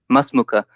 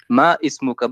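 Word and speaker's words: ما اسمك: Masmuka. You don't say it ma ismuka, but you write it. Yeah, but different. This is just because it's harder to pronounce if you say ismuka. So they say masmuka.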